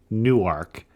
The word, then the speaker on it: Newark: that's important number and we should say you are in Newark n w a r k not to be confused with Newark New which is spelled the same way correct that is how we distinguish ourselves is by saying we are from new ark and I just mentioned